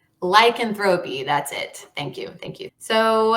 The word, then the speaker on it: lycanthropy: Lycanthropy. Lycanthropy.